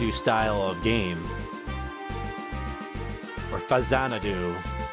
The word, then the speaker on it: Faxanadu: kind of like that faxanadu style of game or Fazanadu as it's supposed to be pronounced, right?